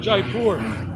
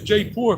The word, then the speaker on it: Jaipur: to go to Jaipur it's not Jaipur pronunciation is J poor people have taught me this come to Jaipur